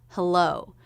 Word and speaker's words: hello: we also heard hello this is a two-syllable word with stress on the second syllable hello so it's that second syllable with the up down shape of the voice the first syllable will be pretty flat it begins with the